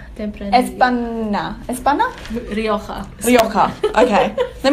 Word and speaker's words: Tempranillo: I don't actually think it's how you Tempranillo. Tempranillo.